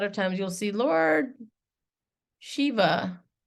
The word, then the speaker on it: Shiva: it like this and it's not civa it's Shiva so again I'm skipping ahead